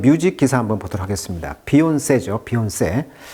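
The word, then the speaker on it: Beyoncé: 좋아요 부탁드리겠습니다 오늘은 뮤직 기사 한번 보도록 하겠습니다 비온 세죠 비온세 자 근데 재밌는 것은이 비온세 할 때이이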